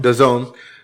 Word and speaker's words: DAZN: I guess it's how do you pronounce it? Their streaming service? Oh, DAZN? DAZN.